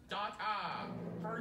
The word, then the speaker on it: data: can't argue with the data it's pronounced dot ah